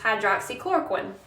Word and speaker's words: hydroxychloroquine: Then you have this drug, which is pronounced hydroxychloroquine.